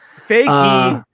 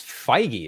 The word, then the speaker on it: Feige: I hear some people pronouncing his name that way. I'm like, I don't know if that's how you pronounce it. I don't know if they're being humorous or I'm sure they are. Serious. It's Feige, isn't it? I think so, but they say Faggy.